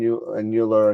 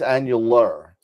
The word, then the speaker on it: annular: it's oh wait it's is it annular yeah you know it's annular it's annual Ann yeah they